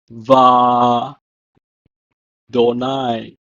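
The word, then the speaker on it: וַאדֹנָי: The aleph is silent, and in the phrase "and the Lord" is presented in Biblical Hebrew as Va Donai, with the aleph being silent.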